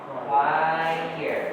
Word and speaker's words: choir: Choire. Oke. Choire. Jadi gini ya. Nah. Quire. Nah, gini ya. Quire.